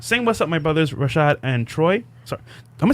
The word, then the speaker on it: Rashad: Sing what's up, my brothers Rashad and Troy.